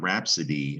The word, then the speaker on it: rhapsody: really long poem rhapsodia see the i and rhapsody in latin we still have that eyes that that same sound rhapsody that i is making a long e sound isn't it but